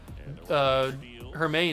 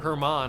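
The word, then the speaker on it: Germán: Look at the stamina for Germain. It's going down, or Herman. I need to start saying it right.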